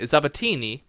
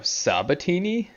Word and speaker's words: Sabatini: name but mispronouncing tristan oh sabatini oh i thought there was a z in there the way you were saying it just because i have